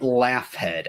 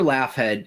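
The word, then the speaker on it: Laughead: named Dr Charles and I'm saying it laugh head I don't care how it's really pronounced it's l-a-u-g-h-e-a-d it's probably pronounced like log in there Dr laugh head he's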